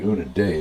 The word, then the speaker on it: Udine: came back to unidine actually un day is the way they pronounce it it was a very